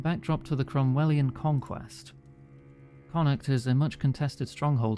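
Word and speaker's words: Connacht: I'm just going to double check my pronunciation guide. Conuct.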